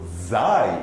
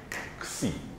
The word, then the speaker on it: xi: Similarly, many people say this is xi or zai even, but really what it is xi.